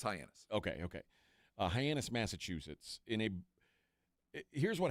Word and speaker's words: Hyannis: It's Hyannis. Okay. Hyannis, Massachusetts. Here's what happened. A car thief was trying to steal a car in Hyannis, and he inadvertently uncovered a kilo of cocaine hidden in the trunk.